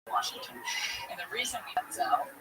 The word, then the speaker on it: Denzel: It's Denzel. Denzel's his name. Denzel Washington. And the reason we Denzel, it's not because we're white, even whiter son.